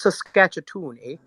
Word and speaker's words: Saskatchewan: need we need some of that good it's pronounced saskatchewan i want to hear about your experience on